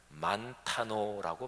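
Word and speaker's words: μανθάνω: 거죠 그죠 배우는 거 헬라어에서 배운다이 단어를 만타노라고 발음합니다 근데 제자라는 단어가 마테테스인데이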